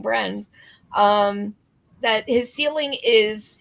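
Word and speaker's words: Briend: um Sam Bren um spelled like friend so I'm saying Bren um that his ceiling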